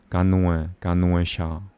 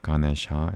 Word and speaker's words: Ganesha: It's Ganuesha. Ganuesha is not Ganesha. It's Ganuesha. Ganesha is not Sanskrit. It might be Hindi, but it's not Sanskrit. Ganuesha sounds more Aryan, and that is Sanskrit.